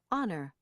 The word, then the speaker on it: honor: There are a few words in American English where the H is not pronounced. Herbs, honor, hour, air, honest, honestly.